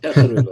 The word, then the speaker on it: Tesorillo: So with the Tesorillo, I think that's how you pronounce it, is it? That's Cirillo, yeah. Tesorillo, that's it.